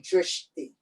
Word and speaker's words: drishti: You can say drishti, D-R-I-S-H-T-I.